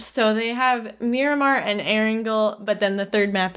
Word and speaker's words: Erangel: Right now, the images that they've shared are clearly from the test servers because it highlights, I think it's Erangel is how you pronounce it, and then Miramar, and then the new map, which is the The murder one.